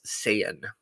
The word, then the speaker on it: Saiyan: but in the fun animation English dubs it's pronounced Saiyan I see okay yeah and if you hadn't